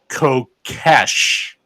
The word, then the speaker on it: Kokesh: because I mispronounced his name. It's Kokesh.